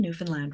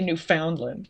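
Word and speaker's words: Newfoundland: people were like oh thank you for saying Newan land right and I'm like I'm Canadian I'm Canadian I should be saying it right absolutely Ely but yeah I guess lots of lots of people say New Foundland and I'm like that's weird so at least I got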